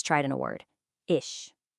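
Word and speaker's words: ich: Ish. Listen again. Ish. It's not iick and it's not ish. It's this unique soft airy sound.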